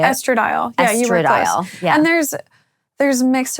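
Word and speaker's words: estradiol: And then once I was starting to wean, I got more serious using the estrodial. Is that how you say it? Estradile.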